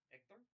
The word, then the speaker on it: Hector: So, in Spanish, an H is silent.